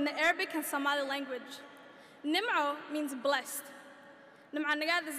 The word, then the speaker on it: Nimo: In typical American fashion, people mispronounce my name, Nimo, with their favorite Disney fish, Nemo.